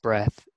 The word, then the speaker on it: breath: one mistake was um when we talk about the breath it that's pronounced breath but then breathe is like a verb breathing so there's there's a difference breathe and breath um and then one